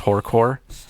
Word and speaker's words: horrorcore: It is horrorcore. Horrorcore slash rap metal. You need to get that extra syllable.